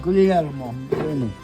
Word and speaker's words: Guglielmo: No, did I pronounce Guglielmo. There you go. You said it wrong. Guglielmo.